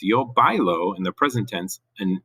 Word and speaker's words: bailó: Notice that O with an accent, that actually changes the pronunciation. In Spanish, if you want to go back to the present tense, not this, but you go back to the present tense, to say I dance, that's bailo. It's spelled the same, except this one has an accent. This is not bailo, it's bailo. There's an actual stress at the end.